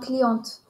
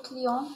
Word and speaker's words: client: lettre E client devient cliente mais attention on ne prononce pas le T de client au masculin et on ne prononce